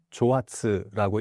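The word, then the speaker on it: 蒸発: 그러니까 한자로 증발을 일본어로 읽으면 조아츠라고 읽는데 이게 갑자기 사라진다고 해서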